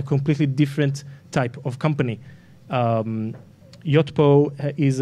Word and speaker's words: Yotpo: To my right is Udi Ledergor, head of marketing of, how do you say it, the company name? Yotpo.